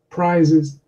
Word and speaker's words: prizes: and voiced and unvoiced the second difference is in a vowel sound before those consonants and listen to the new vowel sound prices prices prices prizes I'm wondering if you've noticed that the vowel sound is shortened slightly before the unvoiced consonant it's called vowel sound